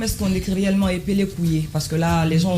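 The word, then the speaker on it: Kouyé: Donc, ça s'écrit K-O-U-Y-E accent aigu. K-O-U-Y accent aigu. Donc, couillé, comme on entend.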